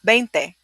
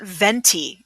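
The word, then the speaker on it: veinte: it like that um it's not venti it's not like a venti you know frappuccino from starbucks in italian yeah it's 20 ounces right so benti is benty in italian which is where it comes from but we don't say venti we say bente in spanish all right next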